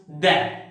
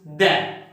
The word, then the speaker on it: the: So, this word is pronounced da. So, the rule is when this word is followed by a consonant sound, then this word is pronounced da.